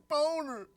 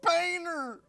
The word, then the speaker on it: Boehner: He keeps on pronouncing it Boner. It's Boehner. In his defense, I'm not seeing the A in that name. It's French.